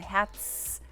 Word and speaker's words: Herz: Y luego la Z se pronuncia como TS en español, Herz.